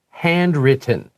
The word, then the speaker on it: handwritten: 老師這裡有個字手寫的要怎麼念因為很多同學都聽不出來這是什麼就是那個T會不見所以同學那個聽力要練好因為很多同學那個對written 什麼handwritten 這個大家都說什麼嗯嗯嗯 but it's okay if you say handwritten if you want to say it clearly That's great That's actually proper Written is actually lazier